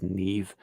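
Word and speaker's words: Niamh: Irish mythology I think her name is Neve yeah yeah but it's spelled like yeah n-i-a-d-h yeah um what's the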